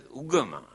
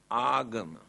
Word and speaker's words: agama: Here now they pronounce as ugama, but the original word is agama.